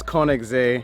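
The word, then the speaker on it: Königssee: it out to Kings Lake or the actual pronunciation is Koenig Z this is in Germany it's a really short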